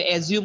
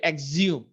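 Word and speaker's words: axiom: ওকে, তারপর হচ্ছে এই যে দেখেন এই শব্দটা আমরা হয়তো অ্যাজিউম উচ্চারণ করতাম, কিন্তু এটা শব্দ এক্সিউম, ঠিক আছে, এক্সিউম, দেখেন তাহলে এক্সিউম, এক্সিউম শব্দটা উচ্চারণ হবে এক্সিউম, এটার অর্থটা হলো স্বতঃসিদ্ধ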